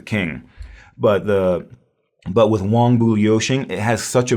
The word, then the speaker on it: Wang: meet a Chinese person don't call them Wang it's pronounced Wong uh means king or